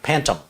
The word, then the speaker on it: Pantum: It's made by a company called Pantum. What? Pantum. Spell it. Pan, like a cooking pan. Okay. TUM, like Tums. Okay. Pantum.